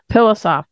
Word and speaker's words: Pilossoph: Zach Pilossoph. Now, you told me your name pronounced. It's P-I-L-O-S-S-O-P-H, which you say to everybody is? Soft pillow backwards.